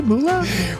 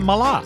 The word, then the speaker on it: Mallah: Moola did I say Moola well you I said Mala yours was a little bit more of a u than an a h but just a little bit okay so isn't just